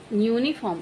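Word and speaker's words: uniform: तो फ्रेंड्स इसको हम यूनिफॉर्म पढ़ेंगे यू तो वर्बल है पहला लेटर लेकिन इसका क्या यहां पे एन लगाएंगे नहीं क्योंकि इसका साउंड जो निकल रहा है वो य निकल रहा है यू य तो यहां पर हम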